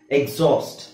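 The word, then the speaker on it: exhaust: ಅದು ಎಕ್ಸಾಸ್ಟ್ ಎಕ್ಸಾಸ್ಟ್ okay ಅವಾಗ ನಾವು x ನ ನಾವು zಡ ಜಿ ಮತ್ತೆ z ಗ ಹೇಳ್ತೀವಿ ಎಕ್ಸಾಸ್ಟ್ ಎಕ್ಸಿಬಿಟ್ ಎಕ್ಸೂಮ್ ಎಕ್ಸೇಲ್ ಎಕ್ಸಾಟ್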